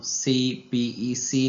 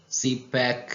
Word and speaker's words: CPEC: इसको हम CPEC नहीं कहते बल्कि CPAC कहते हैं, इसलिए ये एब्रीविएशन नहीं है बल्कि एक्रोनिम है।